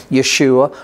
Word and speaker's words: Yeshua: time that that's what Yeshua did Jesus as you would say his name in English Yeshua or salvation of God as you would say it in Hebrew but it was these